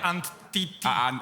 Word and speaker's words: Antti: So that's how you pronounce it, Antti. You should Okay. say Antiti.